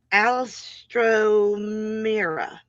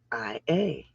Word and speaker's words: Alstroemeria: Alstromira. Alstromira? Okay. I need a verification that I'm saying the name right. Alstromira? Alstroemeria.